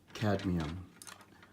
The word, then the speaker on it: cadmium: It's pronounced cadmium.